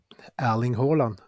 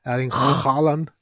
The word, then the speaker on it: Erling Haaland: I don't know what Haaland was doing that day, but he was like Erling Haaland. That was like, no, that's not correct.